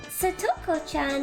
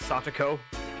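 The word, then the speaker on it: 沙都子: Then Satcoan is This game is either going to make you realize that it's actually pronounced Satako.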